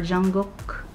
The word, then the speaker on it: Jungkook: Ah, this is name Jungkook. Jungkook or Jungkook. It's supposed to be Jungkook, the pronunciation in Korean.